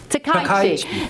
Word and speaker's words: Takaichi: Let me write it down phonetically. Go. Takaichi.